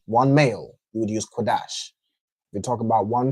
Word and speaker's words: Qadash: I believe that w is just some something the um yeah from the same as quadash. It's something the uh Jewish man added to make that o sound. He pronounces kadosh because he's a effing Right?